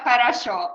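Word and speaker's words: хорошо: here that there is one mnemonic idea how to pronounce it if you pronounce english phrase horror show very very fast you will have parachute for sure for sure mhm if it's not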